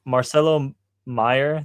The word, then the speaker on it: Marcelo Meyer: Okay, so Marcelo Meyer, that's how you say his name.